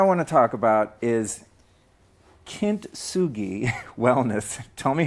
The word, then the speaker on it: Kintsugi: So the first thing I want to talk about is Kintsugi Wellness. Tell me how to say that, your new book. Kintsugi Wellness.